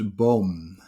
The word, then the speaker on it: boom: say tree in dutch we pronounce it as bomb you spell it as b double double o m it's